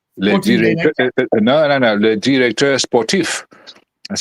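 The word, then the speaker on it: directeur sportif: So this is why they all the clubs now they have a so-called if you say it in French no no director sportif that's how you say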